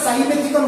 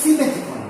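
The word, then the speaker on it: Simethicone: ঠিক আছে, যেমন হচ্ছে সিমেথিকন, অনেকে আমরা সাইমেথিকন বলি, অ্যাকচুয়াল প্রোনাউন্সিয়েশন হচ্ছে সিমেথিকন।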